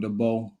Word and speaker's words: DeBow: And we also got a guest today, Jordan DeBow, gonna be joining us. And that's how you pronounce his last name.